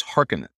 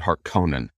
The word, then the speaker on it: Harkonnen: there are wondering uh how to pronounce their mortal enemies it is hearken even though the david lynch version 30 years ago uh got it so wildly wrong they said harkonnen which blows me away because